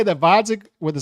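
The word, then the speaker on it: Gvozdyk: and requested 175 interim to fight vodic with a silent G who is older and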